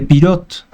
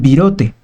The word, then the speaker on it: Pirotte: El bolillo más bien pudiera tener algún parecido con un balón de fútbol americano, porque los mexicanos no podían pronunciar o no querían pronunciar adecuadamente pirot, entonces lo llamaron virote.